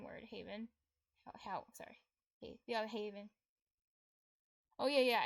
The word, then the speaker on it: hav: like in Danish Hav it's it's pronounced like how because V makes a dip thong.